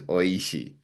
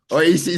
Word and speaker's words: おいしい: But when you look at the name in Japanese, so the word survivor is survivor, phonetically survivor, but Hmm. tasty is oishi.